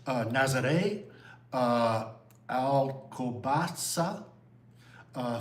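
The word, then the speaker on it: Nazaré: So, how do you pronounce all these three thing? All these things. Okay. Uh Lisbon, Obidos, uh Nazare, uh Albatasa, uh Fatima, and Kar.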